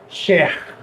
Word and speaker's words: chair: Não tem nada a ver com R, tá? É share. É um R que vem mais da garganta. Não tem muita relação com a língua. Não é um R retroflexo.